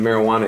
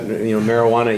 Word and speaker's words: marijuana: Your pronunciation of marijuana is a little bit distinct. And it sounds like you've got, marijuana iguanas, marijuana. You've got a G sound in there, and I don't